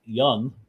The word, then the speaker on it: Jung: They call it Jung-E, the robot, but the pronunciation of the character's last name is Young, not Jung.